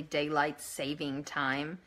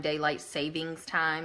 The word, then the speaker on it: daylight saving time: time did you know it's actually daylight saving time that all this time daylight savings time is the wrong way to pronounce it mm-hmm I found that